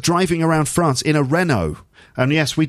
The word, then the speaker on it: Renault: around france in a renault and yes we do say in english renault in french rno i think it is um anyway